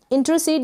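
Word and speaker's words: intercede: इंटरसीड, यहाँ पे जो आर है, याद रखें कि ये आर है, इसका जो उच्चारण होगा इंटर, र को पूरा प्रोनाउंस नहीं करेंगे हम, आधे र के रूप में इसका उच्चारण होगा इंटरसीड।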